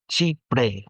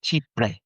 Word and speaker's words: Chypre: So I remember the scene of asking her what, and she looked down on me and she said Chipre, like showing me her teeth and how to pronounce it, Chipre.